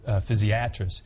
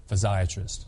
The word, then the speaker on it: physiatrist: In fact, even in our specialty, sometimes people will say physiatrist. We prefer physsiatrist.